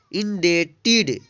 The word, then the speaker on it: indebted: INDEBTED, इंडेटेड, इंडेटेड means होता है ऋणी। तो इसको आप ध्यान रखिएगा। बी कब साइलेंट रहेगा?